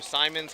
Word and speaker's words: Simons: Patrick Simons. I thought it was Simmons this whole time, too. But he's like, "Everyone keeps mispronouncing my name." I'm like, "Well, Simmons is a common last name.